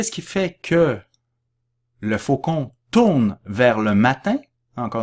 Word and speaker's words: faucon: n donc faut qu'on on ne prononce pas le n à la fin j'ai mon caveau points